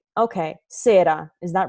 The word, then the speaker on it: sera: I'm like, oh, I freaking And how you spell it, it's like with an R. Like for English people, that's S-E-R-A. No, for English speakers, I would put a D there.